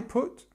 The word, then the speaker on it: put: thing about this word we have this uh sound so it's like book look could good um just remember that but actually the past form is the same so I put yesterday I put and